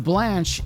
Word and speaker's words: blanche: The blanche is pronounced blanche, and means white.